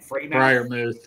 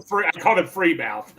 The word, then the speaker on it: Freiermuth: How do you pronounce his last name? Freiermuth, yeah. Freiermuth, and they go Muth. Like right. I called him Freemouth.